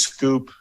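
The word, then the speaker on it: Schoop: I know there's lots of ways to pronounce his name. I've been told. I've heard it as Scoop. Yeah. I've heard it as Scoop. I've heard it as Scoop. Scoop. I just say Jonathan Shoop.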